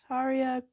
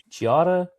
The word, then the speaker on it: Chiara: Taria Corbella Petrillo. Chiara Corbella.